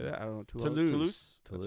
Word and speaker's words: Toulouse: You pronounced Toulouse Towel House.